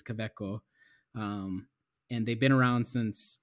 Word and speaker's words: Kaweco: So Kaweco is a German company. The way they would pronounce it is Kaweco.